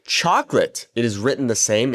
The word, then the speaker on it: chocolate: So, we have chocolate, and in Spanish, based off of what I just told you, a e i o u, we would have cho co la te cho co la te.